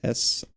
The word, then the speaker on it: Intuos: But Wacom also has I don't know how to pronounce it. I think it's Intuos. It's Intuos.